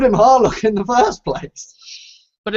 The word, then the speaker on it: Harlock: first place but it it would still be harak it wouldn't be isn't it isn't that how they say it or do they actually say horlock well they I don't think they say it quite so hard but I'm pretty sure it's it's Harlock okay just with like